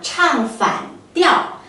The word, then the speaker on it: 唱反调: 生活当中呢常常用儿化音来读，那唱反调。